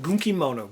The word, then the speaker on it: Gunkimono: Next, we have uh this game is pronounced Gunkimono.